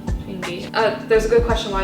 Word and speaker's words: Changi: And it was my, how do you pronounce the name of the airport? Changi? Changi.